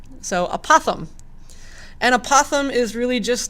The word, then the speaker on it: apothem: new word is apothem sounds kind of like saying opossum but with a lisp so apothem and opossum is really